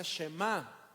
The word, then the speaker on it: shemá: inicia el versículo 4 Oye es una palabra hebrea que se pronuncia shemá es el verbo escuchar